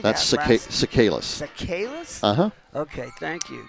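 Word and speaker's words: Tsikalas: That's Sakalis.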